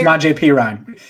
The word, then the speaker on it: Samaje Perine: And if he isn't, are we going to see Giovanni and Bernard and I can't even say his name, Samaje Perine? Samaje Perine.